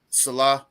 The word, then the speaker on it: Saleh: I keep can't getting pronounce his last Salah. It's Salah.